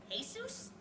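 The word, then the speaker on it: Jesús: and Jesus Manolo and Jesus you don't pronounce the J where is there a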